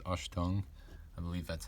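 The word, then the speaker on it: Achtung: It just says Ashtung. I believe that's how you pronounce it.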